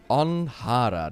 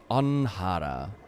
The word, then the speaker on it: Onhara: Onhara, that's how you pronounce it. Onhara.